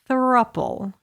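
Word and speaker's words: throuple: you heard the word thruppel yes yes how would you spell that word t-h-r-o-u-p-l-e thruple it's couple but take off the C and put a three oh good grief this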